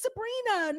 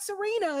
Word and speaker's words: Sabrina: Do you see me getting mad and screaming and like, oh, it's Sabrina, not Serena. It's Sabrina, not Selena.